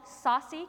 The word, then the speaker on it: saucy: little analogy about this they're called Saucy kicks which is spelled sa a uy not sausage kicks okay so they want